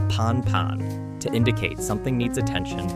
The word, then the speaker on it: Pan-Pan: problems Pilots use the word pan pan pronounced Pon pan to indicate something needs